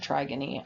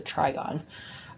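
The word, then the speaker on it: trigone: is called the trigon i think i pronounce it try guinea on the last a couple slides ago but it's the trigon the trigon is important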